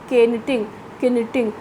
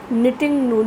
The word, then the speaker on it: knitting: This is not knitting. K is silent. Okay, so we will pronounce it knitting needles or looms, right?